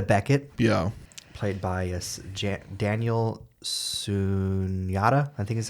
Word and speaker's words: Sunjata: Played by Daniel Sunyata, I think is how you say his last name. Sunhata. It's a J. After the... Or Sunhata. Sunjata, if I remember the opening credits correctly.